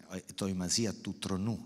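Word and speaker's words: ἑτοιμασία τοῦ θρόνου: Toimasia tu tronu is the ancient Greek pronunciation of it, which means the empty power, which is also the potence of power.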